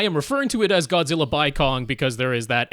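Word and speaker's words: Godzilla x Kong: the name even though officially they have said you don't pronounce the X in any way in the title it's just Godzilla Kong uh that's dumb I'm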